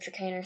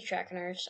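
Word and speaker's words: Trakehner: the tracking ours or chicanery some people see track nurse I don't know if that's how you pronounce it but I'm pretty sure it's chicaner I love this one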